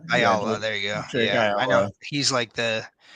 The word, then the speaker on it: Ayala: Ayala? Ayala.